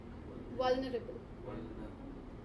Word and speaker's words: vulnerable: Okay, so then how do you pronounce the word? Vulnerable. Vulnerable.